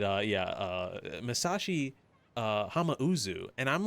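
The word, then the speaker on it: Hamauzu: It's Hamau, not Hamazu.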